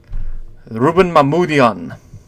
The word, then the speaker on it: Mamoulian: Mamoul, the first part sounds right. Jan. Rouben Mamoulian.